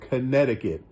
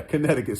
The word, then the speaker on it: Connecticut: that C in the middle is silent. So it's just Connecticut. That's where my brother Blizzard lives. Yeah, Connecticut, sis.